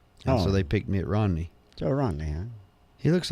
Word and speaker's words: Romney: Rennie. Rennie? Rennie? How you pronounce it? Romney? Romney? Yeah, Romney.